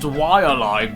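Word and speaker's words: Waialae: Thirdly, I can't think of a better ad for a game called Willy Golf. Actually, I think you'll find that it's pronounced Wailai Golf, based on the real-life golf club in East Honolulu, Hawaii.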